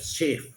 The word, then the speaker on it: chef: 4 sound निकलते हैं, ऐसे फ्रेंच भाषा के अंदर CH को शे कहते हैं, CHEF शेफ, CHAM तो फ्रेंच भाषा है, इसलिए अपवाद के रूप में।